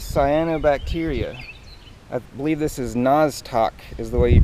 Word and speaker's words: Nostoc: I believe this is Nostoc is the way you pronounce it.